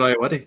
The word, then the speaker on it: Ayoade: I can't pronounce his second name. It is Richard Ayoade.